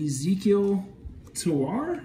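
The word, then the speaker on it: Ezequiel Tovar: go i've got some cases here real quick blue autograph then uh two autographs and then ezekiel tawar that's how you say it that blue is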